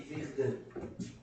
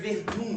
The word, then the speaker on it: Verdun: Se escreve Verdun, né? Mas para parecer que eu falo francês, tirar onda com vocês aqui que eu não falo nada, eu falo Verdun.